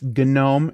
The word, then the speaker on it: GNOME: a one syllable word no it's not it's gnome it's based on a